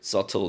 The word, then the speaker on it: subtle: subtle 되겠죠. 여기서 be는 묵음 처리가 됩니다. 그래서 그냥 subtle 이렇게 하죠.